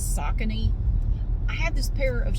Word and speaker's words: Saucony: these Saucony I thought I always thought it's pronounced like Saucony but I looked it up online and apparently it's Saucony I have this pair of shoes and I